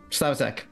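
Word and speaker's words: Slavicsek: Is it Slavicek? Yeah, that's right. Slavicek. Okay.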